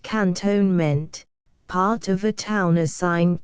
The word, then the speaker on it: cantonment: ordinary double quick 28 Cantonment in India pronounced cantonement part of a town